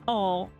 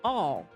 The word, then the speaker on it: awl: No, how do you pronounce that? No, it's all. No, is it out? No, it's not. Oh, yeah, all.